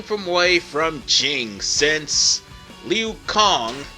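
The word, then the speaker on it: Liu Cong: way from jing since liu kong which is his name's official pronunciation i thought it was song my bad went there and gave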